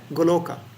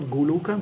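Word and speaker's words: गोलोक: Sanskrit uh goloka yeah goloka so we don't don't say guka right not guka but Goa yeah you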